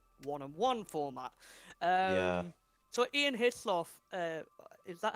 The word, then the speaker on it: Hislop: Mm, I can't Hislop. pronounce his name correctly, but we'll Like call him how you say Dunlop. It's his and then lop.